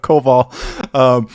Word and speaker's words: Koval: And Brian Koval, the correct pronunciation of Koval, commented that the one single invocation stifle really makes the photo.